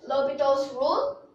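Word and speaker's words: L'Hôpital's rule: Is it L'Hopital's rule? Yes, but don't pronounce the L'Hopital's rule as the Hospital's rule, or the L'Hospital's rule.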